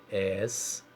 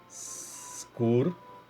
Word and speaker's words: Excursão: Pronuncie a palavra para você ouvir. Excursão. Então, o X e o C estão com o som bem explicadinho. Excursão, não é?